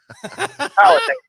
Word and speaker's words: Powhatan: How do you pronounce the name of your hometown? Powhatan.